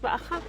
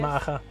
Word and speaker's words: Maacah: Yes, this is my first time to your wonderful site at Abel Bet Maka. How would you pronounce that? Is that correct? or a bell that's maja. Yes. Maha.